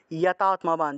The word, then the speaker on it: यतात्मवान्: তাহলে ততঃ কুরু यतात्मवान, যতাত্মবান আছে উচ্চারণ হবে यतात्मवान, यतात्मवान। বান শব্দটাকে সংস্কৃতে ওয়ানের মতো করে উচ্চারণ করা হয়ে থাকে।